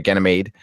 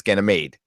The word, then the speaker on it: Ganymede: way it made sorry Ganymede and I'm sorry I'm you know what I'm pronouncing it like the guy does on the audio book which is wrong it's gonna made um and praxis a